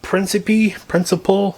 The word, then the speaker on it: Principe: That has been signed by Nick Principe, I had to pronounce it, P-R-I-N-C-I-P-E, and Daniel Harris.